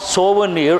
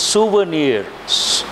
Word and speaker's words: souvenir: important word please right people mispronounce this word it is not sober near it is souvenirs usually what people say sober near souvenir sooo not so it has two